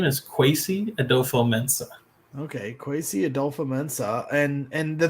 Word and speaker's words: Kwesi Adofo-Mensah: His name is Kwesi Adolfo-Mensah.